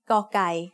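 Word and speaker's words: ก ไก่: The sound of gokai as the initial consonant of a syllable is g. It is very similar to a hard G or an unaspirated K.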